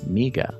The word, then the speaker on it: Miga: Miga. Spell it.